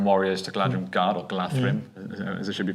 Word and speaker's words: Galadhrim: And if you basically upgrade your Galadhrim warriors to Galadhrim Guard or Galadhrim, as it should be pronounced, um their courage six.